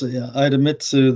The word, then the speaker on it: Idemitsu: lifted in it by, I'm going to pronounce this wrong, but Idemitsu, a Japanese group. Yes, Idemitsu, the Japanese conglomerate, upped its stake in Delta Lithium up to 15% here.